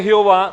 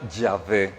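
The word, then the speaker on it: Yah: ahora Estamos de acuerdo Resulta ser que Jehová no es la forma correcta de decir el nombre hebreo si usted quiere pronunciarlo en español en castellano diga ya Esa es la forma más probablemente la más correcta y dice Pero por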